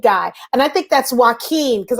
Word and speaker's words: Joaquin: and I think that's why keen because I kept calling him walk on or whatever that's why keen yeah Joaquin um so